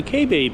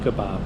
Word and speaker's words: kabob: behind me here on tennessee avenue is the k babe house okay i know it's pronounced kabob please give me some credit i haven't heard